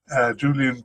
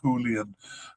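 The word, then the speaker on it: Julián: That includes 2 of the ones on our list here, Julian Quinones and Cesar Huerta. I know it's supposed to be pronounced Julian. I just keep being an English speaker and saying Julian.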